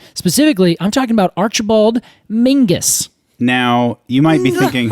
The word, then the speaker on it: Menzies: stuff well he he says that Menzies is pronounced to Mingus yes apparently it's a um there's a an